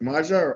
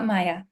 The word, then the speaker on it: Maya: Maja or Maha? Neither, Maya.